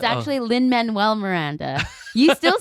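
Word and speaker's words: Lin-Manuel Miranda: One, like you used to say Lin Manuel Miranda, and so I started saying it, but it's actually Lin Manuel Miranda. You still say it wrong. Lin Manuel Miranda.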